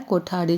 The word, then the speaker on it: कोठारी: भी बताया गया है कोठारी जब बोलते हैं तो इसका एक अक्षर आता है ठ उच्चारण में ठ ठ से हमने सीखा